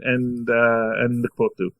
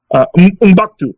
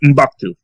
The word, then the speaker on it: M'Baku: Ship the heck out of Shuri and Mkbudu. And I'm pronouncing his name wrong, I know. M'Baku. That's his name, M'Baku.